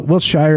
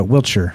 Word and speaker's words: Wiltshire: there he goes uh will wiltshire is pronounced uh wheelchair there it is now